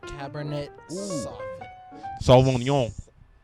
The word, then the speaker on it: Cabernet Sauvignon: Cabernet Sauvignon. That's how you pronounce it, sir.